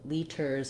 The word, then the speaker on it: liters: in english is to pronounce these medial t's and d's when they don't have a stressed syllable after them as this flap sound so what is the